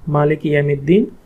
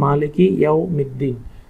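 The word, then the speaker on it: مالك يوم الدين: তাসবিহের ভুলসমূহ, মালিক ইয়ামিদ্দিন, এটা শুদ্ধ উচ্চারণ, মালিক ইয়াওমিদ্দিন, ইহদিনাস সিরাতাল মুস্তাকিম, ইহদিনাস সিরাতাল মুস্তাকিম।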